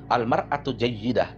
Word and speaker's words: al-mar'atu jayyidah: Di sini menggunakan kata al-mar'ah. Al-mar'atu jayyidah. Gitu cara bacanya.